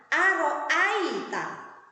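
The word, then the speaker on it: أَرَأَيْتَ: Cara membacanya dengan lentur atau lain. Ya, bagaimana bunyinya? Aro'aita, aita.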